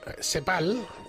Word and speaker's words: CEPAL: Lo voy a pronunciar CEPAL, por si acaso no me habían entendido bien con la Z.